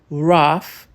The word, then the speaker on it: rough: Se a palavra for curta e indicar algo físico, bruto ou sujo, rough, tough, la. As chances do GH soar como F são enormes.